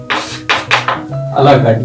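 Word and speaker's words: à la carte: अ ला कार्ट ये एक French term है, तो इसलिए इसका जो प्रोनाउंसिएशन है वो अ ला कार्ट करते हैं।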